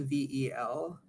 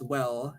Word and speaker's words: vel: for or is spelled VEL. It's actually pronounced well, not vel, because in Latin a V was pronounced like a W, like a W.